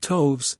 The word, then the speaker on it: toves: And toves is pronounced so as to rhyme with groves.